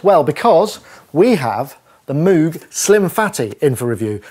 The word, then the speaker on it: Moog: let's get one thing straight I've been saying moo wrongly for so many years I know it's supposed to be pronounced Moog that I'm unlikely to get it right in